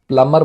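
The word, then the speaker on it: plumber: और इस वर्ड की प्रोनाउंसिएशन में ध्यान रखेंगे, बी साइलेंट होता है, ठीक है ना। प्लम्बर बोलते हैं इसको, प्लम्बर प्लम्बर नहीं बोलना चाहिए।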